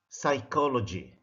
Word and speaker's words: psychology: Same thing for S. Small sense, psychology. P is a silent, or P is a silent letter.